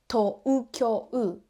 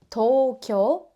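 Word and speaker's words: 東京: We don't pronounce as to-u-kyo-u. We say Tokyo.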